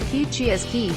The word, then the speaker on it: Kihciy Askiy: heated indoor gathering space to make Kihciy Askiy, pronounced Kihciy Askiy, which is set to be built on former location of Fox Farms this fall, usable year-long.